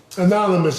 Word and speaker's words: AnonameUs: Anonymous is spelled AnonameUs. Capital A, lowercase N-O-N-A-M-E, capital U, lowercase s. Anonymous. But that's how it's pronounced. It's AnonameUs, but it's pronounced anonymous.